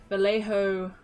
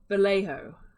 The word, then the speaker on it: Vallejo: but i think it's vallejo i don't i don't think it's valencia don't like that one i think it's vallejo because i think it is like maybe spanish made in spain vallejo